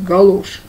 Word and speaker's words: галоши: Как правильно говорить? Фигурное катание на коньках. Значит, на калошах. Галошах. Правильно говорят? Галоши. Так вот, проходило все это около дома.